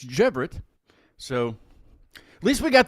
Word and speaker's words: Cevret: couple weeks it's not sever it's actually pronounced with a G so it's jeevit so at least we